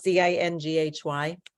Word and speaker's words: dinghy: it has a name how do you pronounce d-i-n-g-h-y yeah dingy a dinghy or a skip okay I didn't know if it was dingy or well dingy so it's a small